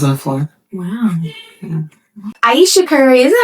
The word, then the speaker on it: Ayesha: Ayesha Curry, is that how you say her name? Ayesha?